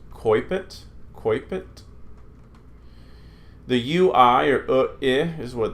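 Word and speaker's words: coepit: The we in English would say oe, is pronounced like oi, as in oil. So this is coipet.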